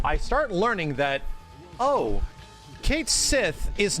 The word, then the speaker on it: Cait Sith: like oh okay and the way you pronounce that character's name is apparently like cat sheep so I'm like oh